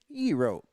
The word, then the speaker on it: gyro: So you're thinking, okay, how do you pronounce it? And it says, you pronounce it euro.